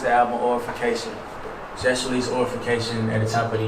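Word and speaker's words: Aurafication: A-U-R-A-fication. Oh, okay. I had to make sure I was saying you right. Yeah, Orification. I heard oral.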